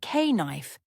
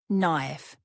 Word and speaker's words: knife: The letter K is silent at the beginning of words like knife, knock, and know. Instead of saying K-knife, just say knife, knife.